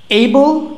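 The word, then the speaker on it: able: ওকে, এইবল এটা কেন এই হইল, এটা কেন এই উচ্চারণ হইল? এটাও এ দিয়ে শুরু হয়েছে, এটাও এ দিয়ে শুরু হয়েছে, ঠিক আছে, দুইটা ওয়ার্ডই এ দিয়ে শুরু হয়েছে। হ্যাঁ, এটা কেন এইবল হইল আর এটা হচ্ছে অ্যাপল কেন হইল?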